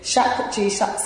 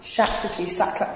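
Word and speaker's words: Shapurji Saklatvala: the big thing do you understand you know shaq g sucks let me say his name right shakti sakla farmer was elected here in like in the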